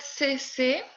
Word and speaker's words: c'est: Cette. C'est la même prononciation.